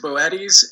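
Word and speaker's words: Boötes: Yeah, it is Boetti's, and I've gotten that wrong for about a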